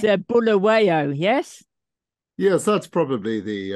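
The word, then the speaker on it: Bulawayo: have an extraordinary life story growing up in bulawa did I pronounce it correctly no not not too bad okay I think it's a bull awayo yes yes that's probably the uh in the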